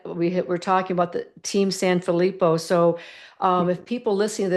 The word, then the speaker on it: Sanfilippo: Tell us a little bit about the Team Sanfilippo.